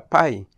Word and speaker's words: pie: de marzo del 2019 carta en inglés se pronuncia pay y de ahí sacaron